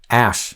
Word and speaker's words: Aesc: things coming and joining together and so anyway ash that's how you pronounce it there you go next question how